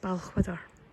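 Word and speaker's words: Balquhidder: Yeah, and if anybody's wondering how you pronounce that word, how you pronounce that place name, it's Balchwydder.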